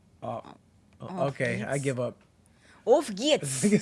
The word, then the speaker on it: Auf geht's: Auf geht's. Nigga said Ufgyat.